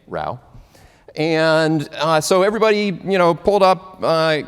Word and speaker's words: Rauh: By the way, that's how you pronounce my name, Rauh.